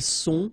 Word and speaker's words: sont: final S not pronounced, ils sont, final T not pronounced, elles sont.